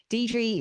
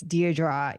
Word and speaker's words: Deirdre: struggle with my name, but Deidre is I guess I call it the Aussie way of saying it because I know here in the States, Deirdre is the main way that it gets pronounced.